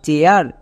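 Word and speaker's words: chair: তাহলে এবার উচ্চারণ করো, সি এইচ এর জন্য চো, এ আই এর পরে আর আছে, তার মানে এ আই এর জন্য এ আ। তাহলে কি হলো, চো প্লাস এ আ, চেয়া, আর এর জন্য রো। এবার একসঙ্গে উচ্চারণ করো, সি এইচ এ আই আর, চেয়ার।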